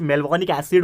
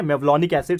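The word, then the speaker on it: mevalonic acid: तो टर्पिन का मतलब होता है जैसे कि कुछ मेलवॉनिक एसिड होता है, ठीक है, मेवलॉनिक एसिड, सॉरी, ठीक है ना, प्रोनाउंसिएशन थोड़ा सा आप ठीक से करो, मेवलॉनिक एसिड है।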